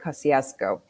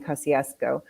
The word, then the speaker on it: Kościuszko: and saw the statue and I heard somebody pronounce it kosciasco and somebody came up to me and I guess that is a original thing kosciasco but I had because I do in my